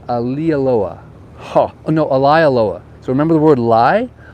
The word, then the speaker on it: Maalaea: got the official how you say it it's Ali Aloha Loa so remember the word lie a lie Aloha